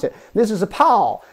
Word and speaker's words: 炮: This is a pow, this is a pow, and this is bow. You always have the same vowel part, A-O.